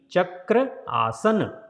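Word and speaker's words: Chakrasana: So don't say Chakra, there is a single A.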